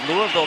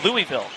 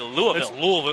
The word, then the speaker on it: Louisville: Shaun East out of Louisville, Kentucky. Some people say Louisville, but I've been corrected. You're supposed to say Louisville. Louisville. It's almost like one syllable.